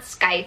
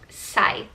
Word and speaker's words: scythe: to our two characters it's not skype it's scythe site it's been a while